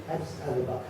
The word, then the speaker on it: Addis Ababa: Addis Ababa.